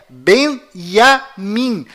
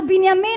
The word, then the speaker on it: Binyamin: é Tchau Além disso não é bem já mim a pronúncia correta é Benjamin pois lembre-se até hoje não existe em hebraico nenhuma letra com som DJ confira é Benjamin netanyahu